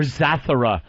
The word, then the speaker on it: Zathura: Or Zathura.